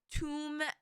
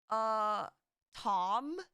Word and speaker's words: tomb: I'm trying to think of like other words that I didn't know, like tomb and Tom, like womb, and but it's pronounced tomb, not Tom, but it's pronounced womb and not womb.